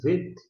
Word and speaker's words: vet: A gente pronuncia vet porque não tem um pontinho dentro. Desta maneira tem som de V.